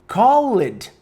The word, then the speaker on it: called: No passado, called, certo? Tem o E, tem o D, called, certo? É assim. Called. É como se não existisse essa vogal antes.